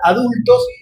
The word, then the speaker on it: adultxs: Lo pronunciamos igual, adultos, pero en todas las redes van a ver adultos con la X en lugar de la O.